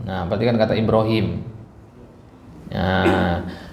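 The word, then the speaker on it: إبراهيم: perhatikan kata Ibrahim nah Ibrahim itu Ibrahim atau Ibrahim panjang pendek panjang kalau dia panjang ynya mana Kalau dari penulisan di Mushaf Al Quran Enggak ditulis ya-nya tapi dikasih simbol ya kecil gitu Ya dikasih simbol ya kecil gitu Ibrahim berarti Hi di sini tetap dibaca panjang kenapa karena adanya ya kecil tersebut idqala Ibrahim Nah ini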